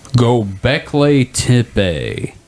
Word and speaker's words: Göbekli Tepe: that's not how you spell that. God damn it. Okay, I should not type after drinking. Göbekli Tepe.